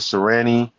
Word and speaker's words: Sirianni: Like look at Serrani. How do you say his name? Serrani. Nick Uh, Sirianni, yeah, for he's coaching the Colts, right?